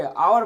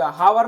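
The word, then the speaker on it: hour: उच्चारण होगा एन आवर एच इसमें क्या है साइलेंट है एच क्या है साइलेंट है पढ़िए तो इसको क्या पढ़ेंगे आवर पढ़ेंगे हावर नहीं पढ़ेंगे आवर पढ़ेंगे इसीलिए उच्चारण स्थान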